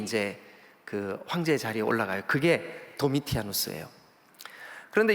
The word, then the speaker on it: 도미티아누스: 자, 여러분 이 요한계시록이 쓰여질 때 로마의 황제가 누구냐 하면 도미티아누스예요. 도미티아누스. 이게 이제 발음이 조금 이렇게 다르게 도미시아누스 이렇게 하시는 분들도 있지만 같은 이름이에요.